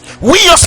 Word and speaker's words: huios: Huios qui s'écrit comme H-U-I-O-S.